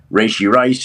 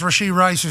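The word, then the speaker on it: Rashee Rice: KD and various people well that's certainly not how you pronounce Rashid Rice's name but nepotism is a beautiful thing sometimes what's the best way to say here Rashid rice yeah I think so he had a great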